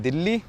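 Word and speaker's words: Dili: पर स्पेलिंग आती है उसकी डी आई एल आई। हमारी दिल्ली की आती है डी ई एल एच आई। तो उसके आते हैं डीआई एलआई पर कहने में दिल्ली आता है।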